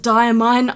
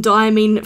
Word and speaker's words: Diamine: So the diamine inks, they're actually pronounced diamine. I looked it up just now. I've been calling them diamine for years.